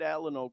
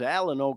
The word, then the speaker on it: Alano: I kind of came from the school where we equated the pronunciation Alano with Alamo, like the Alamo in Texas, the last stand, you know what I mean?